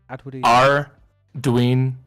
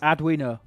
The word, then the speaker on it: Arduino: R Dwine. O three syllables. Adino.